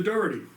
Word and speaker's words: Dorety: This is Arthur Dherty. I pronounced your last name correctly.